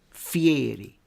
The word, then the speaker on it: Fieri: Notice how I say that, Fieri. Even he said it himself like that, Fieri. Which I like that. People pronounce it like that, Fieri, not Fieri, Fieri.